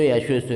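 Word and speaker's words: يَشُوصُ: Adapun kata-kata perawi yashusu fahu bisiwaki itu yashusu itu bacanya ya dibaca fathah, shinnya dibaca dhammah yang bertitik tiga, kemudian pakai shad tanpa titik.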